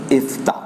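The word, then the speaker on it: יפתח: In Hebrew, the word Jephthah is pronounced as Iftah.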